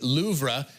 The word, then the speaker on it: Louvre: Babbel says the correct pronunciation, there you go, is Louvre, with a very soft pronunciation on the R.